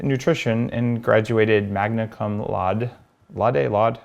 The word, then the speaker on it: laude: And she studied nutrition and graduated magna cum laude.